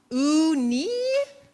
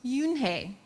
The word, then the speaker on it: Eun-hae: "Ooh-nee?" the girl asked, scrunching up her face. "Ooh-nee," some kids chanted. No, Eun-hae corrected. It's spelled U-N-H-E-I. It's pronounced Yoon-hae.